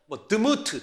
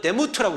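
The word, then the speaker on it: דמות: 여러분 여기서 하나님의 모양과 형상이라고 얘기하는 모양이라는 단어가 히브리어로 드무트 또는 데무트라고 읽어요.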